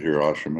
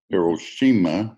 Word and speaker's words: Hiroshima: Or we could go back to, oh, you could look at Hiroshima and Hiroshima, if I have to pronounce that right. I've always had the Walter Cronkite pronunciation, which is wrong. Hiroshima, Nagasaki, yeah, but maybe